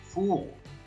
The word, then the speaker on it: full: of hope, e cheios, full of hope, cheios de esperança. Esses dois L's juntos aqui da pronúncia do full, geralmente no inglês eles dão aquela puxada na língua.